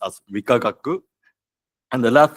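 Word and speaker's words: 理化学: And the first 3 letters are pronounced as Rikagaku, and the last 3 letters are pronounced as Kenkyusho.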